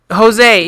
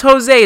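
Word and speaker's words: José: Jose. Yeah, it's Jose. It's Jose. The J is silent. It's got an H sound.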